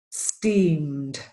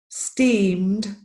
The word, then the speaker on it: steamed: with this IDI ending this is very typical for Spanish speakers to get an extra syllable at the end all of these words do not have an extra syllable so the pronunciation is called grilled based steamed and served yeah I'll do them